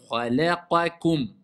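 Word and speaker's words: خَلَقَكُم: Kha, mufakhama, la, qa, kum. Après, ça va venir de soi. Parce que les lettres emphasées sont pas nombreuses. Donc, toi, tu sais, kha, je dis kha. La, c'est aminci. La, qa, c'est emphasé. Kum.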